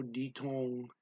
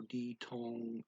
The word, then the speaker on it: ditong: Sino ditong anak mo? The words dito and ang are blended together by the speaker. Sino ditong anak mo?